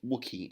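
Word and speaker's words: Wookey: a place called the wookie hole caves that's Wicky it's built wo o ke y but it's pronounced wookie like Chewbacca the wookie I know wookie whole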